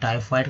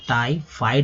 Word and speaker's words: टाइफॉइड: इसे आंत ज्वर भी बोलते हैं, और टाइफॉइड तो बोला ही जाता है, टाइफाइड बोलते हैं हिंदी में, टाइफाइड लोग बोलते हैं, लेकिन अगर उच्चारण प्रोनाउंसिएशन की बात की जाए तो टाइफॉइड।